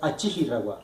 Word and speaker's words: Achihirawa: Cuando veamos esta palabra con una sola R, la vamos a pronunciar como si fuera R, como si fueran dos R. Entonces, por ejemplo, en este caso, para despertar sería Achihirawa. Achihirawa. También estaba diciendo mal el acento.